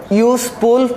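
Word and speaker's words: useful: কিন্তু ইউ এর উচ্চারণ কিসের মতো হয়েছে, ইউজফুলটা উচ্চারণ করো, ইউজফুল। ইউ এর উচ্চারণ যদি ইউর মতো হয়, তাহলে কি বসবে, এন না বসে এ বসবে। তাহলে এটা হবে এ।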